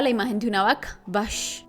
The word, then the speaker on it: vache: Yo contemplaba la imagen de una vaca, vache, y las 2 letras, C, H, que se pronunciaban sh.